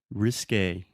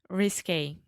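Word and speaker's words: risqué: Risque. Risque. Risque is like, ooh, her dress is kind of risque, like a little scandalous.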